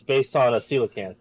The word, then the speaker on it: coelacanth: it's based on a coelacanth or coelacanth, as I always pronounce it, Oh wow, it turns blue.